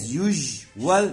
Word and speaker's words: usual: As usual هنا حرف الاس هنطقه جي، as usual كالمعتاد، do something kind